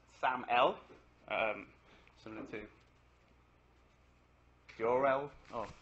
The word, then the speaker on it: SAML: It's stands for security assertion markup language and it's pronounced SAML.